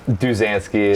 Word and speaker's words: Duzansky: So Duzansky, you say your last name because I can't even pronounce it right still. Duzansky.